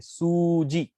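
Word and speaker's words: 数字: Okay, in the third case, what do you see, su ji, ऐसी सू को pronounce किया है, सू को प्रोलॉन्ग किया है ऊ लगा करके, सूजी।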